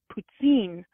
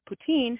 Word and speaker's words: poutine: than I am and she says it's pronounced ptin I don't I'm probably butchering that and I I've always said well yeah but the guys on dark poutine who are from Canada say poutine so I am curious